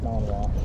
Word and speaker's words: Malinois: Like spelled Malinois, but it's like pronounced Malinois. Oh, Malinois.